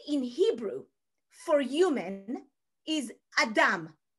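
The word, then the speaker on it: אדם: The word in Hebrew for human is Adam, Adam. Do you know this guy from the Bible? No clothes on. Yeah, that guy, okay? Adam, built of two syllables, ah and dam.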